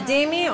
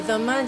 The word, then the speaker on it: dhimmi: A dhimmi, or a dhimma, depending on the pronunciation, is a tolerated people.